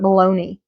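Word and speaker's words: bologna: when I was little we called it baloney but it's spelled balona balona liver worst turkey ham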